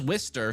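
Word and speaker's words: Worcester: Danvers, Lynn, Glowchester or kind of like Woo. Yeah, this is Wister.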